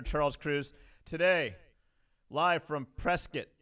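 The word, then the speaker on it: Prescott: Cruz today live from press kit pronounced like biscuit Arizona we have will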